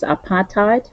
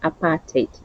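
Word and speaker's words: apartheid: So obviously for English it's apartheite for us South Africans apartate enforcement. That's how we pronounce aparate. We don't say apart. We say apartic enforcement.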